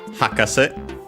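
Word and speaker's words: 博士: We have then hakase. By the way, accented on the first syllable, as we've seen last time.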